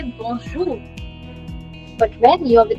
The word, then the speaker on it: bonjour: Why are you pronouncing the R?